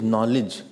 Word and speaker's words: knowledge: Written is something, it is knowledge, but K is silent.